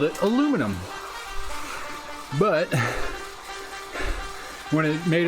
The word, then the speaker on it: aluminum: The word aluminum, which is pronounced correctly, aluminum, not aluminium, was originally discovered, or